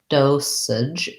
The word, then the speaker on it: dosage: word dosage um so dosage has first syllable stress and it has a clear o vowel so we would see that like this in the dictionary dosage we have the s